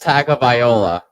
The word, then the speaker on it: Tagovailoa: His last name is pronounced Tagovailoa. Tagovailoa.